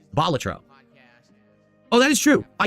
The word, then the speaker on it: Balatro: As for It's not, so it's not Balatro, it's Balatro. The emphasis lies on the first syllable because Balatro was a professional jester in ancient Rome, hence the name. So it's Balatro.